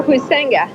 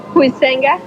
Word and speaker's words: Huizenga: Can you pronounce that name? Sure, Huizenga. How do you pronounce it? Huizenga.